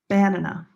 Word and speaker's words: banana: Banana. Banana. Wrong stress location. Banana. Is that a word in English?